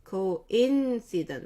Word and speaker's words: coincidence: 하나, 둘, 인을 조금 더 길게 해요. coincidence. 우리 피아노 칠 때 부점이라고 하는데 coincidence. 인을 2개 정도 카운트를 해주면 될 것 같아요.